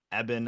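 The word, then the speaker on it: Eben: name too i mean it's e b e n is his first name pronounced evan so you know shout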